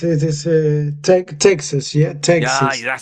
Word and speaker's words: Texas: We have Tox. But, it it is it is Tex Texas. Yeah, Texas.